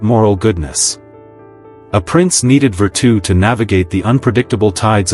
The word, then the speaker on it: virtù: Machiavelli introduced the concept of virtù, pronounced virtù. Now, don't confuse this with our English word virtue.